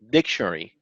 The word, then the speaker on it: dictionary: energy in the word so in this word we put more energy or more efforts or more stress on the on the first syllable which is dick so you can say dictionary you don't say diction in dictionary no we say dictionary the same here this